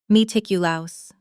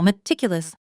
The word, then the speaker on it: meticulous: Try the pronunciation slowly. Meticulous. Now at natural speed with the stress on the second syllable. Meticulous. Meticulous.